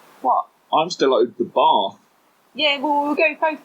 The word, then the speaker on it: Bath: So I am quite obviously northern, and so Bath is pronounced Bath because there's no R in it. And Aidan is very much southern, so he pronounced it wrongly with an R in it, which is